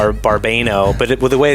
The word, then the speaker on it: Barbano: It's Barbano.